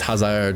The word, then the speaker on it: Hazard: Adrianne missed but Hazard De Bruyne. Oscar Ramirez and Dean all put theirs away. Oh my god. Hazard and Emmanique scored in the game. Haz I feel bad saying Hazard. It's Hazard really.